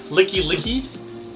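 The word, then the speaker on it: Lickilicky: So, Licky Licky, Licky Licky, right? Is that how you pronounce it?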